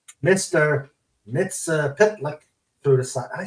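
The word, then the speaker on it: Mxyzptlk: Superman 30 while chasing a character called Mr MIT pitlick through the side I said it right yeah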